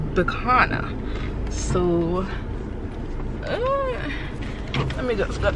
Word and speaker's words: Bicana: It's Bicana. My name is Bicana. He thought my name was Bianca, and he said the whole time he was pronouncing it as Bianca. It is Bicana.